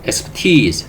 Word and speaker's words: expertise: expertise, 잘 알아두세요. 전문, 지식. expertise라고 발음합니다.